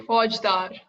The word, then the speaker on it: Faujdar: Faujdar. Faujdar. Faujdar. Okay. Yeah. That was a kind of German pronunciation of Faujdar.